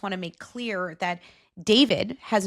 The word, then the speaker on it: D4VD: a well-known artist named David. And David spelled with the number four instead of an A because he is a Gen Z artist extraordinaire.